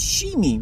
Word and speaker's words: Shimi: It's Shimi, which I think is the pronunciation of cat in Tibetan.